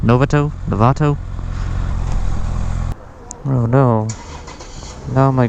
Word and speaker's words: Novato: now it's really hot this is historic downtown Lovato I don't know it's pronounced Novato Lovato oh no no my gloves don't match